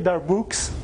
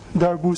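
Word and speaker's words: Darboux: cocktail party don't say darbux it's you don't pronounce the x in french at the end of the word just say that it will look better and so the upper darbush sum is going to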